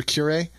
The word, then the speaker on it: curiae: How do you pronounce that? Yeah, you said the second one. Okay, so curiae.